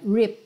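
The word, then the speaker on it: ripped: R Olha que interessante tem o e mas você não fala R é rip do P você já vai pro D rip jeans rip jeans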